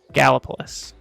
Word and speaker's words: Gallipolis: Gallipolis. That's correct. That's right. Did you just not want to pronounce it?